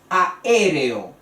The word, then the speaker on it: aéreo: parte de sílabas diferentes aéreo aéreo es también una palabra esdrújula a&r o a cuatro sílabas y la sílaba acentuada es la ante antepenúltima el cólico es en